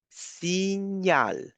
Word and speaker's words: signal: If you compare signal and signal in English, it is totally different. You see, in English you pronounce the G, G, and you pronounce the N, but here you're actually not pronouncing G. You're pronouncing N.